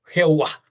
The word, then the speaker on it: Yahweh: El hebreo bíblico no usa vocales, y al no tenerlas, la pronunciación original se ha perdido en el tiempo. Lo más probable es que se haya pronunciado en los inicios como Yahweh, pero algunos, tal vez influidos por el sustituto Adonai, que significa Señor, prefieren pronunciarlo Jehová.